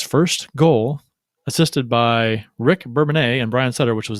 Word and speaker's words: Bourbonnais: Bourbonnais, is that pronounced that right? Bourbonnais? Yeah, that's correct. Bourbonnais, that's what I thought.